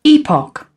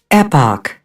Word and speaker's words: epoch: that's the UK version so the UK says Epoch and the US says Epoch wait here's another one Epic oh so us does say epic so I guess they're all correct then all right pronounce it how you like then y'all heard it